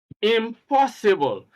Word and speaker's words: impossible: are as follows impossible now take note that stress is on the second syllable and that is the syllable immediately after the preview the prefix here is IM I am and immediately after that you have po impossible incredible inflammable ineligible in